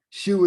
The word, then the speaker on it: shu: Shu is spelled S-H-U. And so even to pronounce the word, it's like breathe out. It's like shu, right?